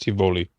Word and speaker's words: Tivoli: partying at nicholas bentner it's pronounced tivoli evoli okay you should go